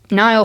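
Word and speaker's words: Niall: No, it's Nile. Nile Horin. Nile is spelled N I A L L.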